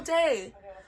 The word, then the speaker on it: Dee: It is D. They say Day once out of the many times that Dee's mentioned, so I call my bearded dragon Day, but it is spelt the same way, and this is who it is named after, so whatever we want to call it, D or Day.